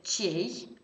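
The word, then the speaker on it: чей: Quindi, un pronome per i sostantivi maschili che si legge chei.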